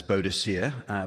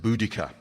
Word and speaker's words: Boudica: She's been known as Boadicea, but a group of Cambridge linguists recently insisted, from a study of Proto-Celtic languages, that Boadicea must be pronounced Boudica.